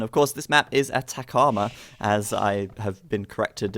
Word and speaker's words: Atacama: So Very interesting start on this map, and of course this map is Atacama, as I have been corrected in the pronunciation.